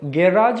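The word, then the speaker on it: garage: तो इसके 2 प्रोनाउंसिएशन होते हैं दोस्तों, गैराज भी होता है और गैरेज भी होता है। तो गुराज ये नहीं होगा, गिराज नहीं होगा, गारिज नहीं होगा, गैराज।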